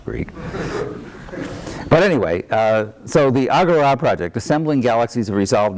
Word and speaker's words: AGORA: And Javiera told me that this has to be pronounced AGORA, not AGORA, because, she said, don't I know the final alpha has an accent? I don't know the Greek. But anyway, so the AGORA project, Assembling Galaxies of Resolved Anatomy.